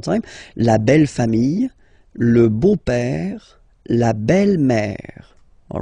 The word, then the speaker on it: beau-père: So, père, okay, father, so father-in-law, okay, in French it's le beau-père, the beautiful father, le beau-père. So remember this a, u combination of vowels only give you the sound o, beau, okay, le beau-père.